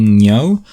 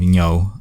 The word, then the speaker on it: Ngo: then by the way, I'm also not sure about the pronunciation of Ngo. Like, I'm kind of pronouncing it the way I pronounce Nguyen. I assume it's a Vietnamese name.